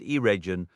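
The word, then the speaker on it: Eregion: The letter G always carries the hard sound as in get meaning region and irregion are not said like the English word region and the initial syllable of gingith rhymes with begin not gin.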